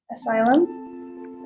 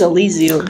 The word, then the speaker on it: Elysium: Wait, how did you say that one? Asylum. I said it. It says Elysium.